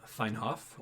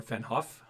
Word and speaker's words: Fennhoff: his real name is Johann fine off or fennhoff if you want to pronounce it more emphasized his first appearance was